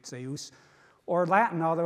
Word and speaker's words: Zeus: dyaush, but Greek Zeus, where the dy has turned into a dz, and now we pronounce it z, but it was dz in ancient Greek, Zeus.